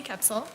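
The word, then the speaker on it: Koepsell: for the record I'm sorry full name and spell it for us it's ksil c h e LS e y last name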